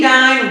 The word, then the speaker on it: Dine: And I am Dine, Rhymes with Divine, aka Coach, and